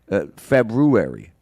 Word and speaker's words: February: February yeah yeah yeah you don't drop that that that r that that first r no that the second R right February yeah right I don't